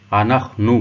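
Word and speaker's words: אנחנו: ضمیر جمع ہوگی انخنو، اس کا تلفظ انخنو ہوگا۔ اس کے معنی ہوں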